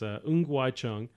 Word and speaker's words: Ng Wai Chung: So I'm going to pronounce the name the right way. So it's Ng Wai Chung.